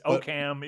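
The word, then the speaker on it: Occam: Worster but I in oam I guess so yeah I guess in okam is it okam it's oam that was another thing how it spelled o a k h m see if we screw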